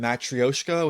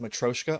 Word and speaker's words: matryoshka: They use the term matryoshka, which actually is pronounced matroshka, I believe, where basically they do something similar with splicing out smaller models.